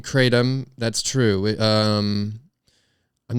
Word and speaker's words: kratom: leaf um but anyway yeah so it is pronounced kratom it's actually very big right now they have